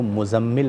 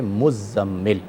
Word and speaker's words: مزمل: نام بھی مزمل ہے۔ ہمارے عرف میں اس لفظ کو مزمل پڑھا جاتا ہے جو کہ غلط ہے، عربی جو تلفظ ہے وہ ہے مزمل۔ نبی کریم صلی اللہ